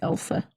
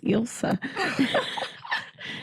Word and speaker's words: Ilsa: Yeah, Except for everyone in the movie kept pronouncing her name wrong. They called her like Elsa. Ilsa. They all pronounce it differently. Yeah, they all pronounce it differently. And I was sitting here like, I just read the audiobook and it was Ilsa.